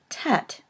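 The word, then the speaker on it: טית: is the letter Tet originally it probably was pronounced as an emphatic kind of a death but now most people do not distinguish between this and the final letter of the alphabet which is a tough next is the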